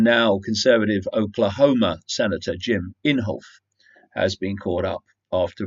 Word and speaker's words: Inhofe: Republican Jim Inhofe, it's called Inhofe, I did check the pronunciation, that's what they said it was.